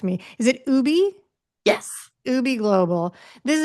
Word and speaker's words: UBI Global: Is it Ubi?